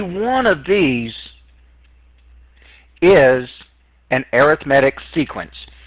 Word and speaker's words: arithmetic: of these is an arithmetic sequence some people try to pronounce this arithmetic really it's arithmetic well hopefully you thought